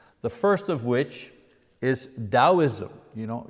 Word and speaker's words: Taoism: first of which is Taoism you know you pronounce the T like a d taoism that comes from